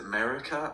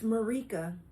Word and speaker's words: Marika: Is it America or... Because I believe I mispronounced it before a few times. It's Marika. Marika, okay.